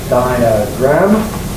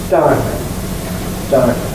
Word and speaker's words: diagram: Second example, diagram. Slower pronunciation, diagram, and a faster one, diagram. Third example, maddening.